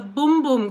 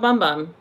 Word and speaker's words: Bum Bum: but I got the boom boom cream because that's how you say it it's not bum bum it's boom boom from Sol de Janeiro